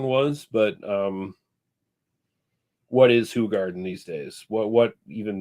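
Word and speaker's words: Hoegaarden: red B says isn't isn't it hog Garden no that is a common misnomer uh it is actually pronounced hug Garden I mean you can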